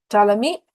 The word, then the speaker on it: Ptolemy: Ptolemy, P is silent.